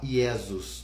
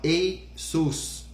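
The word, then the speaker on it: Ἰησοῦς: Então, em grego, Jesus é Iesus. Mas quando você vai falar, você não fala Iesus, né? Você fala Eisus, que seria ali, se não me falha a memória, H-E-Y e depois S-O-O-S, Eisus, né?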